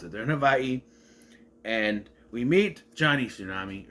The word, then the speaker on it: Hawaii: They're in Havaii and yes, I'm gonna say it like that because that's how you're supposed to pronounce it. They're in Havaii and we meet Johnny Tsunami or Johnny Kapahala.